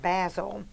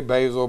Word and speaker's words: Basil Hayden: Generations yep and uh some of them call it basil I've heard it how do you pronounce it I say basil but you know we